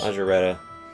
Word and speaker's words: Margareta: Is her name gonna be pronounced like Margarita when the dub comes out? I don't know, but it's using the S sound, so Margareta.